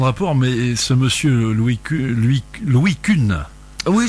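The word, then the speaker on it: Kuhne: Je sais que ça n'a pas tellement de rapport, mais ce monsieur Louis Kuhn. Oui, je pense que ça se prononce comme ça s'écrit K-U-H-N-E.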